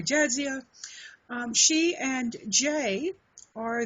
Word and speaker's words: Jadzia DeForest: Arwin and this is correct me if I say your name wrong jedia the forest that's correct okay I don't know if it was Jia or jazia um she and Jay